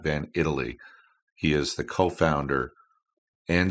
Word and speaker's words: Van Itallie: uh Matt van Italy to correct the AI co-hosts pronunciation of the name I didn't refer to that earlier but it is Matt van Italy he is the co-founder